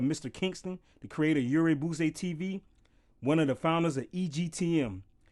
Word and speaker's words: Urey Boisey: That's how you pronounce it? Urey Boisey.